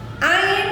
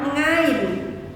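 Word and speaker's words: عين: Ain adalah bacaan idzhar apabila bertemu dengan nun atau tanwin, nun sukun atau tanwin. Dan cara pengucapannya masuk ke dalam pangkal tenggorokan. Ingat, ain bukan ngain.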